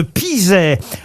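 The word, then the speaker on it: Pizay: Vous allez quitter le château de Chambord pour le château de Pizet.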